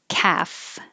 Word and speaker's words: calf: happy half no l calf no l and then my dog